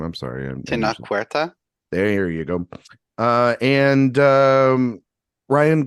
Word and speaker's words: Tenoch Huerta: I'm sorry, Tenoch Huerta.